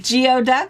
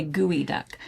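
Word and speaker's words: geoduck: do you pronounce it geod duck that is not how you say it don't say that say gooey duck but anyway it is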